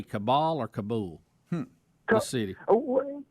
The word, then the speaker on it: Kabul: And while we have you, how did the locals say? Did they say Kabul or Kabul?